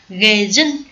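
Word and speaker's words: 下旬: Chữ hạ tuần này thì chúng ta để ý cách đọc nhé. Gejun, chữ hạ bình thường là chúng ta hay đọc là cạ, đúng không? Cạ theo âm ông. Tuy nhiên là trong trường hợp này đọc là ghê. Thỉnh thoảng ý, chữ hạ này sẽ được đọc là ghê đấy.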